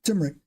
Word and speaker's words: turmeric: you say it again turmeric turmeric right there's an m in there right I'm leaving the M turmeric you put that in